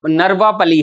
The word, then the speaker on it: नरवापली: जैसे नया पालिका है नयापालिका नहीं है नरवा नरवापली है आप इसके स्पेलिंग चेंज कर देना नरवापली इसका जो नाम है वो है नरवापली नयापालिका नहीं नरवापली एन ए आर वी ए पी ए एल आई नरवापली Kshemendra की किताब है